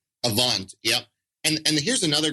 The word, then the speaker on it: Avant: credit score, this top one, I can never pronounce this right. Is it Avant? Avant.